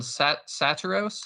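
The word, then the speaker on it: Saturos: And then we get Mia as well, and Satiros.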